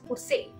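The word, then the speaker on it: José: it's not yours it's Jose because e is a okay and J is H so Jose and then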